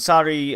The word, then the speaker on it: Sari: I've been pronouncing it Sarie. I was thankfully corrected via a fan. It's just Sari.